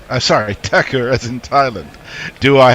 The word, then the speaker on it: Thakur: just ideas uh says I prefer to pronounce thakur as in Thailand oh sorry Tucker as in Thailand do